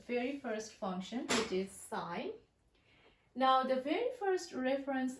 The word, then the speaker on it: sine: So the main 3 functions are sine. We sometimes write it with S-I-N-E, but usually in math we omit the E, so it will actually become S-I-N, but you will still pronounce it as sine.